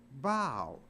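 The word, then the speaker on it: bough: But it's not pronounced buff, it's pronounced bow.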